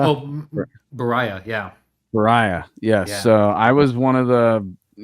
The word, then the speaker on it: Beriah: Seeing you guys do I can't pronounce it, but it's the Book of Berea. Oh, Beriah, yeah.